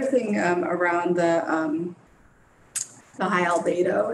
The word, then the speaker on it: albedo: The other thing around the the high albedo, is that how you say it? Albedo, yes. Albedo, great.